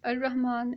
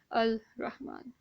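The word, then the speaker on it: الرحمن: This ra here is going to fall automatically in the Shamsi letter, and therefore we are going to silence this Laam-e-taareef. So it's going to be al-Rahman and not al-Rahman.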